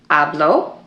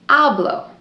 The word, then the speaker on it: habló: For example, the el, ella, usted form, habló. If you didn't say hablo with the accent on the O, then it would be hablo. And that's just the present tense yo form.